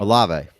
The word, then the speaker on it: Olave: Olave.